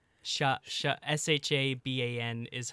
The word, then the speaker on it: Siobhan: how do you say her name Siobhan Shabban Shabban. Sha Sha S h a b- an is how you pronounce it. Shabban.